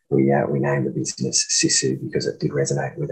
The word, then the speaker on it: Sisu: it's the it's pronounced sisu and it's a finnish word and and we chose